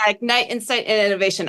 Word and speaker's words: Ignite Insights Plus Innovation: Is that how you pronounce it, Tricia? Yeah, Ignite, Insight, and Innovation.